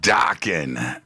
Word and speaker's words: Dokken: Don Dokken rhymes with rockin'.